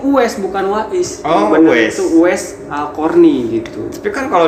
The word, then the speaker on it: Uwais: tulisannya Weiss setelah saya baca kaca ternyata emang dibacanya itu es bukan What is Oh wes wes Alqorni gitu tekan Kalau DX pasak Attaqwa